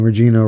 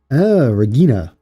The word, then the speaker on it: Regina: Saying Regina wrong. Vagina? No, Gina, but the H is silent. So, Regina.